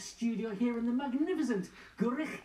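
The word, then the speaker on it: Gwrych: Our brand new gatehouse studio here in the magnificent Gurich Castle. That's how you say it.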